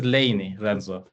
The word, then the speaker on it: LayNii: So lay the first syllable stands for layers representing all kind of high resolution nasal scale layers and columns and ni the second syllable is is nifty which sets kind of lany apart from other software suites.